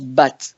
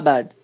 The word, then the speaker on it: Badd: un vrai nom mais qu'on prononce bat pas bad dont bea d apostrophes